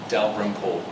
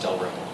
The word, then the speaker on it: Dalrymple: 3 syllables. Dalrymple. It's the Y, so just say it fast. Dalrymple.